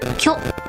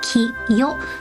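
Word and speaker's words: きょ: Combining the big ki and the small yo makes the pronunciation kyo. If you write the big ki and big yo together, you just pronounce it ki yo.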